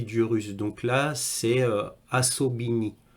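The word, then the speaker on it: особый: le prononce assaut béni avec comme un a au début mais ça s'écrit avec un O mais faut pas oublier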